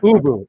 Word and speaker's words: Ubu: dude next to him, Abu, I think his name was, Ubu. right? Boo Boo. Okay. No, not Boo Boo. Ubu. Ubu. Ubu. Ubu. That's right.